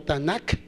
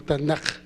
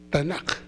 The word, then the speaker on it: Tanaj: No directamente como Tanakh, porque la letra K se pronuncia más como J, como Tanaj, como una KJ o una JK. Tanaj.